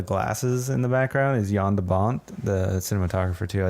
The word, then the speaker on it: Jan de Bont: in the background is Yan de Bont the cinematographer - I think I'm learning that you're saying his name wrong it's Jan de Bont yonder bum John Jam yeah just